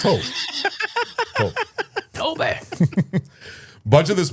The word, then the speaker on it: Tobe: I don't think his name is Toby. I don't think so. I think it's Tobe.